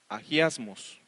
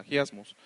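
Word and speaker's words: ἁγιασμός: lo puse ahí, de la palabra griega agiasmos, así es como se pronuncia, agiasmos, que se usa como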